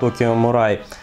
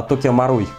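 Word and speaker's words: Tokyo Marui: и даже был АК Tokio Marui, или я всегда неправильно произношу это название, а Tokio Marui, во, а теперь вот правильно, наконец-то, прошло всего лишь 3 года, и я начал правильно произносить Tokio Marui.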